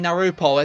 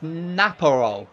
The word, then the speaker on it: Napo: saying his name wrong I keep saying narup it's Napo Napo I keep reading it wrong I must um you